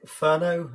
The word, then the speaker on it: Furneaux: really appreciate it uh my name is Ferno it's spelled a bit weird it's gateau or shat